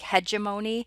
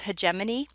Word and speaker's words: hegemony: be talking about those i know that that can look like hegemony but it's pronounced hegemony and then we're also